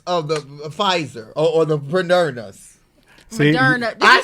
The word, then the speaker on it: Moderna: the second dose of the Pfizer or the Moderna's. See, Moderna. Did I you say said it right. Moderna? Moderna's. We don't want to get sued, so I'm You- gonna say it wrong. Moderna's.